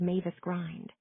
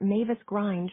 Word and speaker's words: Mavis Grind: bridge of land called Mavis Grind. Grind with the I pronounced as in in means a gate, though my husband says that Mavis Grind should be the name of a sultry and somewhat sleazy nightclub hostess.